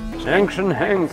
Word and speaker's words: Action Hank: Action Hank. So you pronounce it the same as the American Hank.